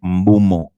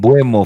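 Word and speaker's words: Mbeumo: He pronounces his name Mbumo. Who, him or the commentators or pundits and everything? Him. Himself. Yeah, Brandon Mbumo. I know I've called him Mbuemo for like since I knew him.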